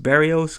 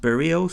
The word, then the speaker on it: Barrios: we have Jose burials initially I thought it was pronounced Barrios because that's usually how that last name is pronounced but I hear he likes to have it pronounced Barrios so that's what we'll go with and yeah like I